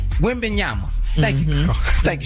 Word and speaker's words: Wembanyama: It's Wembanyama, by the way. Wembanyama.